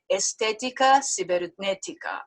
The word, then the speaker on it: Estética Cibernética: At the tender age of 27, he already owns an independent record label, Estética Cibernética.